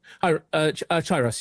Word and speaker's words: Kairos: No worries, So I'm playing as a Kairos. Chiros, yes, that's correct.